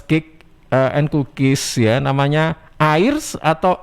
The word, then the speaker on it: Air's: Namanya Airs atau R ini bacanya.